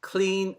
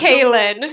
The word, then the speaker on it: Klyn: And my guest this week is Klyn. Sorry, I pronounced that incorrectly. How do you? What's correct pronunciation? It's Klyn. Klyn.